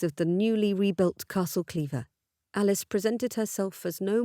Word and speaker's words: Clairvoir: here at Cleaver Castle had Alice's great aunt not pronounced the name of the ancient lands as Cleaver Alice certainly would have said it wrong despite the estate name being originally from the French the early English inhabitants of the estate had corrupted the pronunciation hundreds of years before The Duchess lowered her